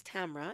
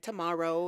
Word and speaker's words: Tamra: can't even pronounce this my name is tamra it's my birth name my mother names me tamra actually my grandmother names me tamra rhymes with camera so all around the world muslims are calling me things like tomorrow and tamara and things like this but i'm working on helping them pronounce my name correctly it's still camera so i am pronouncing